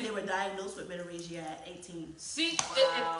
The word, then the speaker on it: menorrhagia: So I looked it up, and there is a term called menorrhagia. How you spell that? Menorrhagia. Menorrhagia. Menorrhagia. That's 5 syllables.